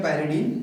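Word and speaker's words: pyridine: ठीक है, और पायरिड, पायरिड मतलब ये पायरिडीन का स्ट्रक्चर है, पिरिडीन या पायरिडीन जो भी आप प्रोनाउंस करें, ये स्ट्रक्चर होता है, मैंने अलग से भी बना दिया है।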